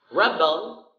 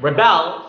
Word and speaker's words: rebel: is being seen rubble rebel rebel first syllable that's a noun and rebel second syllable that's the act of rebellion rebel rebel graduates graduate